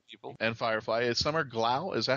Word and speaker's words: Glau: And Firefly is Summer Glau. Is that how you pronounce her name? Summer Glau, yeah.